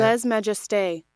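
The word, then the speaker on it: lèse-majesté: Anyway, let's Google how you say it. Les majesté. Yes, les majesté, says Google.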